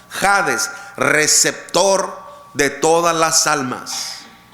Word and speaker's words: Hades: Acuérdese lo que significa Hades que se pronuncia como jades con j jades receptor de todas las